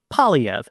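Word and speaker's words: Poilievre: speak shortly here and yes that is how an anglophone pronounces his last name PV in a recent interview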